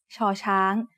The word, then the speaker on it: ชอช้าง: As the initial sound of a syllable, it makes a sh sound. When it's the final sound of a syllable, ชอช้าง makes a T stop, just like ดอเด็ก.